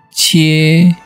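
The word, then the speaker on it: 切: Contohnya kalau kita kasih Ji di kiri, Ji 7 tuh, kita di kanannya dikasih Tao Zi Pang, bacanya jadinya Cie.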